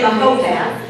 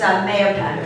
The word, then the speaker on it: Mahopac: you say Mahopac. Mahopac if you're A native. if you're a native. And if you're only here like for 40 years like I am, it's Mahopac.